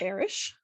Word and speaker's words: airish: I don't narrate my own novels for audiobooks, but I think it's pronounced Irish. I can't imagine how else you would say it.